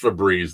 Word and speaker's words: Febreze: Is it FEBREEZE or is it FEBREZE with one E? It's actually one E. Yeah. So is it actually pronounced Febreze then? Is it why would it be E, a hard E there? It's Febreze. Yeah, exactly. It'd be Febreze.